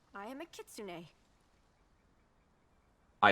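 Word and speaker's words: kitsune: appears your observation is correct I am a kitsun I like that the voice actors pronounce it right if my hypothesis is correct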